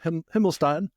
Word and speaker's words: Himmelstein: Himlstein. Um we had just talked about the pronunciation.